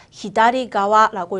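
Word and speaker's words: 左側: 측, 어느 쪽이라고 할 수 있는 한자어 가와라고 읽어주시면 됩니다. 그래서 히다리가와라고 읽어주시면 돼요.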